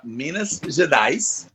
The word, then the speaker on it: Minas Gerais: Salve para Minas Gerais.